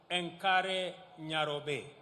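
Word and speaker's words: Enkare: let us recall that the city is an anglicized pronunciation of encare which is a kimasai means which in kimasai means the river of Cool Waters for the Maasai a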